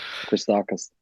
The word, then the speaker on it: Christakis: Christakis, or how do you pronounce his name? Yeah. Christakis.